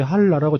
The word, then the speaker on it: 한라: 현송월 단장도 노래 부를 때 한라라고 정확히 발음하더만요.